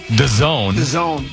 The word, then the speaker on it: DAZN: London-based streaming platform, it's spelled DAZN but pronounced "the zone."